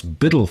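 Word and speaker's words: BUIDL: tokenization space with this fund called Biddle that's spelled Bui DL using the ethereum blockchain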